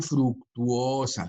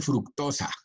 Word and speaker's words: fructosa: la fructofuranosa Por cierto no se dice fructuosa se dice fructosa Okay y eh la